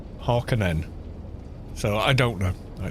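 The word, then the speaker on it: Harkonnen: Although Frank Herbert actually said he pronounced it Harkonan Harkinen.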